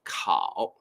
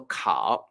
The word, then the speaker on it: 烤: it right so actually the pronunciation is totally the same we also pronounce it like cow but the main thing